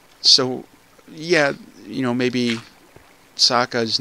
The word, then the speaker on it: Sokka: the cartoons, you know, Sokka, that's his name, S-O-K-K-A. If he was Japanese, it would be pronounced Soka, or Soka, yeah, you know, a little more delay on there. And so, you know, I